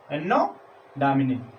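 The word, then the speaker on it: Anno Domini: एनो डोमिनी Hindi उच्चारण इसका, एनो डोमिनी।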